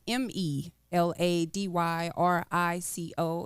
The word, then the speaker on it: Me Lady Rico: me lady Rico that's m e l a d y r i c o and it's pronounced me lady Rico well I'm just going